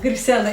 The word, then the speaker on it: Griselda: Griselda. It sounds better if you say it like with a full Spanish accent.